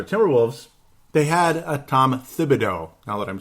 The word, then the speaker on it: Thibodeau: Now, ultimately, the whole conversation was, the Minnesota Timberwolves, they had a Tom Thibodeau, now that I'm saying it right, on Timberwolves Explosion.